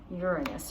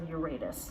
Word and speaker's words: Uranus: And it's called Uranus or Uratus. You can pronounce it either way.